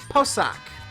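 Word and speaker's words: Pocok: Let me make sure I get the pronunciation right, because I got it right last time. It's from Posok.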